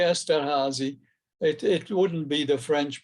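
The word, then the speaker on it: Esterházy: like to pronounce things correctly so i say esther hazy it wouldn't be the french pronunciation in any case esterhazy because he was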